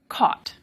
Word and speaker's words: caught: One is spelled C-O-T, and the other is spelled C-A-U-G-H-T. I say these differently. Cot, caught. But many speakers in the US say them the same way, that they say caught, caught.